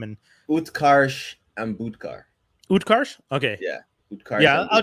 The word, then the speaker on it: Utkarsh: Utkarsh?